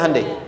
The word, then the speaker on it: Hyundai: bikin Honda sini HD hyundaikan dibacanya Handai sana Honda apapun yang